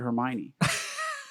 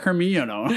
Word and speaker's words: Hermione: for the longest time I went to like book four that I knew how to say the word Hermione I think I call her like hermiono or something like as a kid put in your